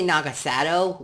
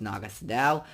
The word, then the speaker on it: Naga Sadow: the tomb of Naga Sadow now they say Nagas a dough which is not how it's pronounced it's Naga Sadow I literally Jacob you can witness this you've